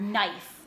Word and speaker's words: knife: word knowledge the word knife the word to know something the K is silent and then we have